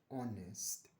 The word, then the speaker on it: honest: Because the word honest the sound itself starts with O which is a vowel sound. the word itself, right? When you spell it, it starts with an H and the H is a consonant.